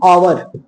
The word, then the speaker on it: hour: लेकिन मैंने बोला HOUR, इसको कहते हैं आवर, ठीक, पहले आया H लेकिन पढ़ा क्या गया है, आवर, आवर का मतलब होता है घंटा, एक घंटा।